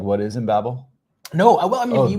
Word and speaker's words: Embabel: Well, firstly, I am going to have to u nitpick about pronunciation because in Babel it comes so the name originally is loosely inspired by the tower of babel but particularly via Douglas Adams and you remember the babel fish from hitchhiker's guide to